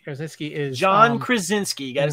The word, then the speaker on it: Krasinski: what we're saying is is that um John krasnicki Krasinski is John Krasinski got to say his name